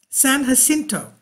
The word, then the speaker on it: San Jacinto: one of my viewers said yes I was pronouncing it wrong I'm so sorry San Jacinto right there okay that's part of the san